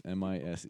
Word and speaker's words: mise en place: It might be mise, but with N in it, I'm pronouncing it like you would in Latin, is mise in place. Mise in place. MISEENPLACE.